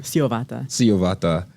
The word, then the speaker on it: Syovata Edari: So without further ado, I'm going to introduce our guest of this episode, attorney Syovata Edari. Did I get that right? Syovata. She goes by Vata, though. Yes. The T pronounced.